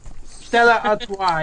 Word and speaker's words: Stella Artois: I don't know how to pronounce the last name of it. Stella, whatever it is. Stella Artois.